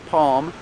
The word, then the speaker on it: palm: never touches the roof so you don't hear an L you hear um almond and calm and palm like this palm tree